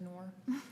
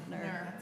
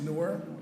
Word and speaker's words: Noor: Nur. No, it's not Nur, it's Noor. Noor. Noor, yes. Noor. You. Yes, Like period. Not newer, like I'm not newer than you, but I'm just newer.